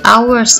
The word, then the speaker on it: hours: 2 hours ago. Kita bacanya hours. Jadi kita tidak baca huruf H ya.